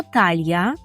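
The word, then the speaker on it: talia: тут маємо два слова або талья талія так як по-українську талья трошки вимова інша так талья Або ми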